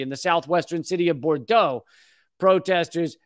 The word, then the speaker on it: Bordeaux: the southwestern city of Bordeaux protesters see I pronounced that one correctly it's not poor Dukes Bordeaux protesters Set Fire to